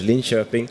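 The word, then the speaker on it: Linköping: the south more in the South it's uh linkoping it's about it's pronounced in Swedish Lin shoing oh thank you it's uh 2 hours south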